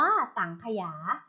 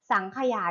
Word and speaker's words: สังขยา: ที่ 1 นะ คะ สังขยา สังขยา อ่าน ว่า สังขยา สังขยา ที่ ถูก ต้อง นะ